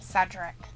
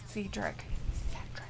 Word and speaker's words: Cedric: pronounces that i guess cedric not cedrick he'll retire if he